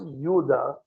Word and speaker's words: Judah: Uh, and then finally, the last one, Judah, is the word for praise. Something to keep in mind is there were no Jews. The word Jew literally tracks back to Judah and it's pronounced Yuda, but it's that that's where Jew comes from.